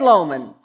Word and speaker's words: Lomond: was in luck because it's actually the name of a Scotch. So, not Loch Lomond, but Ted Lomond.